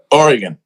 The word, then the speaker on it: Oregon: is that is that is that the right pronunciation of Oregon that's it Oregon yeah yeah I wasn't sure if you know